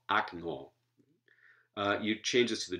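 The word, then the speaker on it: окно: So if you take the stress away from okna from the first syllable, it becomes A, as in this form of the word window, which is the nominative singular, akno. Not okno, akno.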